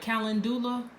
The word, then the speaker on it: calendula: if you've seen it written it looks like calendula looks like calendar but due at the end but it's pronounced calendula and it's a very solar energy